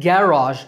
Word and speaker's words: garage: However, there are some words with differing stress patterns, like garage in American English, stress on second syllable, and garage in British English, stress on first syllable.